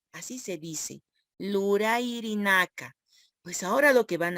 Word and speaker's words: lurayirinaka: Y verbos en Aymara quiere decir lurairinaka. Así se dice, lurairinaka.